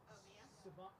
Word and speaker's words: Siobhan: Or Siobhan.